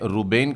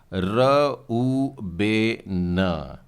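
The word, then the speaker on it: ראובן: जी हां, हम तो इसे हिंदी में रूबेन कहते हैं, पर उच्चारण में हल्का सा फर्क आएगा और ये होगा र उ बे न।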